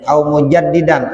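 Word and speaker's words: مجددًا: masih anak anak ya mujaddidan itu bacanya mujaddidan ini alifnya belakangan mestinya gitu au mujaddidan atau orang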